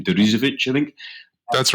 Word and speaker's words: Deresiewicz: Sheep, William struggles to do his second name, Deresiewicz, I think. That's right. And that's nicely pronounced, man.